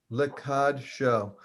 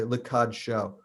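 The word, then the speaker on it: לקדשו: Oh, actually, there's a typo there. There should be a shva under the dalet there. There's no vowel for the dalet, which is incorrect. But it's still pronounced the same way.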